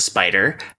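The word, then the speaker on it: SP//dr: On reveal, add, I'm going to pronounce it Spider. Her mech, it's stylized, capital SP / lowercase dr.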